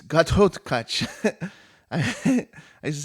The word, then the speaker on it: Ghatotkacha: So it's Ghatotkacha. I used to say Ghatotkacha, but you got to say it right. It's the wrong. It's Ghatotkacha.